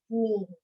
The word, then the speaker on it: knee: So K is silent for knee. Now, what is this?